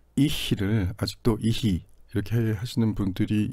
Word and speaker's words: ich: 이렇게 생각하시는 분들은 이제 어렵다고 하더라도 그것을 사실은 옳지 않은 발음이고 ihi라고 하는 건 옳지 않은 발음이고 ich라고 해야 된다 라는 사실을 알고 계시기만 해도 언젠가는 그것을 바로잡는데 바로잡을 수 있는 가능성이 충분히 있습니다.